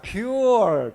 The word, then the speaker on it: Pu'er: in typical chinese pronunciation mandarin pronunciation is called poor poor tea but with your typical